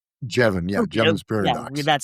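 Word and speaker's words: Jevons: Is that how you pronounce the name? Jeban. Jeban.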